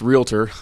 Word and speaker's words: realtor: how to do that pronounced realtor uh they put an extra syllable in there right you don't call